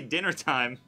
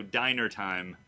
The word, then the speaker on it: Dyner: So the winner is, I want to say dinner time, but it's spelled DYNER time. So diner time.